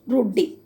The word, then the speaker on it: routed: That is a process running in the background named routed, abbreviation for root daemon and pronounced root D.